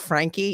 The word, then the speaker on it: Franke: and and just um she calls herself Frankie even though it's spelled Frank f-r-a-n-k-e so I just call